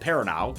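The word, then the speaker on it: Perrineau: like helicopter pilot Flynn Flynn's played by Harold perano current star thank you peran been wondering how to pronounce his name name for the long peran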